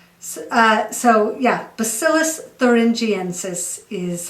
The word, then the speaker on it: Bacillus thuringiensis: about it for many years but it's more bacillus thuringiensis uh so yeah bacillus thuringiensis is how you pronounce the full scientific name of this uh